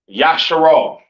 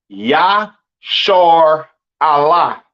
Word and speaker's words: Israel: what I'm saying and Israel is not pronounced yashar is not pronounced Israel in the Hebrew that is not how you pronounce Israel Israel is pronounced yah Allah all right yashar Allah